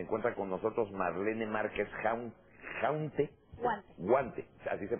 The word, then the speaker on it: Huante: Esta mañana pues, se encuentra con nosotros Marlene Márquez Guante, así se pronuncia, sí. Guante, ella es pintora y además es arquitecto, que era lo que estábamos platicando.